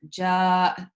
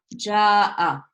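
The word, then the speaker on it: جاء: Now, if I pronounce this, ja'a, which you could, this is a verb, so you could potentially pronounce it with a fatha.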